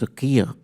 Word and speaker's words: Sakaya: And my cousins all say, "Kenny, you're pronouncing it wrong. It's Sakia," you know.